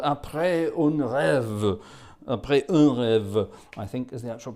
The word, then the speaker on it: Après un rêve: Après un rêve, I think is the actual pronunciation.